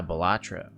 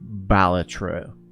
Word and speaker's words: Balatro: stealth oh ah batra is it batra or balatro because I've heard people pronounce it both and I've heard those people also be like it's actually pronounced this way it's actually pronounced batro and people go it's actually pronounced batra batra that's how I want to pronounce it too but I also want